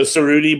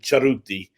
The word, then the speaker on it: Cerutti: But anyway, so Cerutti, but in Italy they pronounce it Cerutti, a CH sound, and they roll the R.